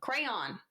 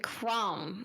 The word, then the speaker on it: crayon: do you call it crayon crayon no you said Crown like you're it's like you're saying a one syllable word crayon cray no cray cray like c r a n basically crayon yeah it's crayon no okay